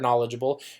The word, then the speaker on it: knowledgeable: might still today be looking up the word knowledgeable without knowing about that silent K let's take for granted